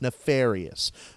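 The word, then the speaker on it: Nafaryus: of the story is literally named nefarious yes nefarious but it's spelled na FA are you why us because Dream Theater thinks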